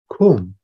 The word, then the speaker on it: Kum Nye: out their potentials right kum it's actually if you spell out kum nei it's s k u silent s ku and then m nye and